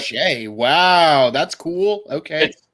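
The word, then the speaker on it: Skjei: it's Brady Shea. Yep. Shay.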